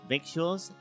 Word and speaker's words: victuals: Never heard the word victuals, Speedy? It's lingo out here on the trail. Doesn't look like it, but it rhymes with little.